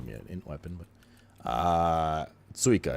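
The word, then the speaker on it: țuică: Tsuica, it's spelled T-U-I-C-A. But the T in Romanian has like a little, what's this? Tier 2 strength. It has like a little tail under it, and it's pronounced T. It's like a T-S sound.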